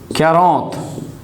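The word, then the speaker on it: quarante: tell you 40 is karat that is 40. french people pronounce are as if you are gargling so they will say like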